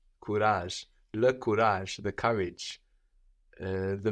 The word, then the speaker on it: courage: bage bage courage courage this is spelled c o u no so OU gives us kurage kurage the courage uh